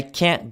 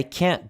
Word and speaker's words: can't: that we hear when we say uh oh it's this sound right here the gap between the two sounds so let me give you some examples of camp number two here I can't go to the party